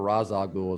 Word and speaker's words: Ra's al Ghul: League of Shadows and Ra's al Ghul, or Ra's al Ghul as they pronounce it in the trilogy.